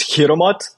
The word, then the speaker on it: Hiremath: Yeah, technically the way you pronounce it is Hiremath. It kind of sounds like Hiremath. I mean, for some of the English listeners, but it's Hiremath, Hiremath.